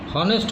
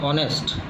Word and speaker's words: honest: जैसे कि an honest, हॉनेस्ट होता है पर हम इसको प्रोनाउंस करते हैं ऑनेस्ट, ओ।